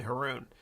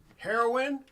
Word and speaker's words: Haroon: school everyone called me haroon they called me baboon because it rhymed with haroon now you can't forget